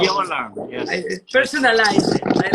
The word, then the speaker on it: Urquiola: Urquiola. Urquiola. Urquiola. Say it wrong. Urquiola. Yes. I personalize it. I like it. It's good. You know, it's a Basque name.